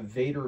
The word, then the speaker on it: Vatrer: I reached out to Vader battery I think that's how you pronounce it VA a t r and they provided two